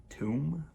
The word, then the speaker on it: tomb: Tombstone right seems right tomb silent B that's the hard part all right go and